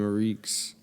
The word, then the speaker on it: Ariex: up so I am a reeks I'm an artist um based from uh South Jersey um oh reeks I'm glad you put your pronunciation in your Instagram you never know now